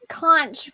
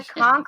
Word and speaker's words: conch: It says Conch Republic. Republic. US. It's the Conch Republic.